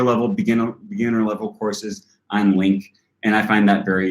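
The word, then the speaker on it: LingQ: beginner level courses on Link, and I find that very useful as well. And that's Link with a GQ. It's spelled really strange. L-I-N-G-Q, not L-I-N-K.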